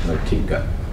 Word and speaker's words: Moitka: I believe that's pronounced Motika.